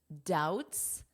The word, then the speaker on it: doubts: On Tuesday, he expressed doubts. What do you notice about the pronunciation here? Doubts. This B is silent, which means you can pretend it is not there for spelling.